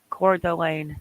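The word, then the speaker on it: Coeur d'Alene: lot of people Encore core delayed yeah I have a horrible chest and head cold too because core I'm blind too core Delane thank you now I know how to say it I'm sure I'll mess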